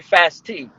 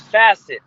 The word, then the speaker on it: Facet: him on instagram it's some people say fast t they don't know how to pronounce it it's facet f-a-c-e-t we have a lot